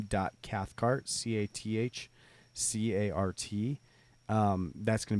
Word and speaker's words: Cathcart: your last name well it's like Carhartt it's confusing but it's not Carhartt yeah it owns Carhartt